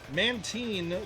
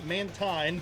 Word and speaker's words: Mantine: damage well then again mantin Mantine both accurate cuz the anime is used both pronunciations has very high special